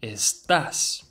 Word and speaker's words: estás: Put the emphasis on the A. Estás.